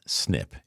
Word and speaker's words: SNP: Exposure to BPA created a single nucleotide polymorphism or SNP pronounced snip in their genes.